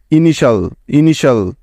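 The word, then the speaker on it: initial: করা যায় না, কারণ TIAL এই 4টি বর্ণ একত্রে মিলে একটি ওয়ার্ড প্যাটার্ন তৈরি করে, যার উচ্চারণ সবসময় হয় শল শল এর মতো। ঠিক তো? তাহলে এই শব্দটির সঠিক উচ্চারণ কি হবে বলো তো? INI ইনি এবং TIAL শল ইনিশাল ইনিশাল।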